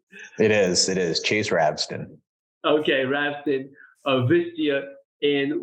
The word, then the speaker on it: Ravsten: Is that the right pronunciation? It is. Chase Ravesten.